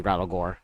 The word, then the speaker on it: Rattlegore: Yeah, exactly, Rattlegore. I've heard some people pronounce it that way, so.